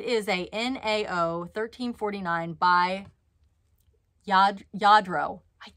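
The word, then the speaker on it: Lladró: It is a NAO 1349 by Yadro. I said it right. Yadro. It's spelled L-L-A-D-R-O. So I used to say like Ladro, but it's Yadro.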